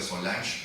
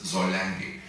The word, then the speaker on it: Solange: Mucha gente las pronuncia Solange, como si fuera en francés, pero la palabra es en alemán, es Solange.